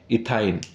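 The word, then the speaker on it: ethyne: इसको कैसे प्रोनाउंसिएट करेंगे? इथाइन, ठीक है।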